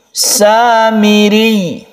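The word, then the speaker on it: السامري: Jadi tasydid ini kita gunakan ketika dia wakaf, maka tasydid ini tetap ada. Al-Qassamiri, Samiri. Jadi begitu cara membacanya.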